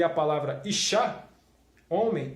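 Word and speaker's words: אשה: Como se pronuncia a palavra mulher no hebraico? Se pronuncia Isha.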